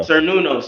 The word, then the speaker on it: Cernunnos: he's in is inspired by the Celtic god Cernunnos. I think I'm saying his name. I don't know if it's pronounced. Yeah, I got it right here. Cernunnos right here. Yeah, here you go. Cernunnos, yep.